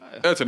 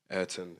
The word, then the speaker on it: Ayrton: Ayrton, any shout outs you want to make before we take the people out?